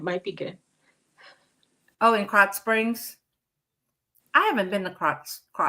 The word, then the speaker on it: Krotz Springs: Crotch. Yeah, it's pronounced Krotz Springs. They pre-make meals. Oh, cool. Crotch Springs, huh?